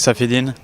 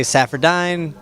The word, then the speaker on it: Saffiedine: please say your name my name is terex saffidin i was going to say saffrodine whatever i put the